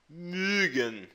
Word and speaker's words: mögen: Se você colocar o U aqui, mögen, com o O, você só abre um pouquinho mais o biquinho, mögen, tá?